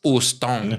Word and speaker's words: Houston: H is silent. So Houston.